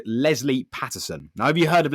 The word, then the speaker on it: Paterson: Anyway, so yes, Lesley Paterson, not Pedersen or whatever, is a 5-time world champion triathlete.